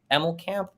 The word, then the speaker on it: Emmelkamp: He was originally trained and supervised by Professor Paul Emmelkamp. Is that how you pronounce it?